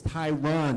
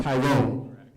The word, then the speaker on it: Tyron: By the way, it's Tyron, not Tyrone.